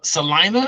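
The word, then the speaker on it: Celina: I see they knocked off Salina.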